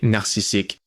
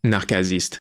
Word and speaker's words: narcissique: Un mot qui est très souvent mal utilisé, c'est narcissique. Il est aussi mal prononcé, on devrait dire narcasiste. Le gars qui est tombé amoureux de son reflet s'appelait narcisse. Le C se prononce dur en latin.